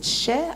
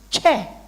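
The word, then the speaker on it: tjè: is Che Che X I didn't say share I said Che it's not sure nobody cannot you spell it already Okay so the word is not share is chair and the spelling is t j e with a grave accent sorry okay so please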